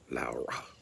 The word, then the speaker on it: Lara: So you pronounce it Lourrah, Laura. Okay, not Laura, it's Laura.